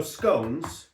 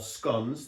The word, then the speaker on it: scones: But, um So, scones or sconns, depending on how you say it, Yeah.